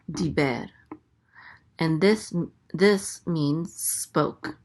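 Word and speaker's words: דִּבֶּר: Next we have a dalet with a chirik. So this is D. The chirik says E. So this is D. And this is a bet with a segol. The segol says E. So this is be. And then the resh closes out the syllable. So it says ber. Diber.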